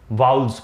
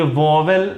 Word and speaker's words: vowel: सकता, उनको हम लोग वाउल्स बोल। और इसका जैसे VOWEL, ये वोवेल नहीं पढ़ा जाता, इसको पढ़ते हैं वाउल। ये इसका सही प्रोनाउंसिएशन होता है।